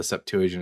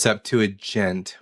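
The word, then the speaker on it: Septuagint: Up to like 90% of the Septuagian is exactly the same as the messer text. Okay. And by the way, it's pronounced Septuagent with a J sound. The G makes a J sound.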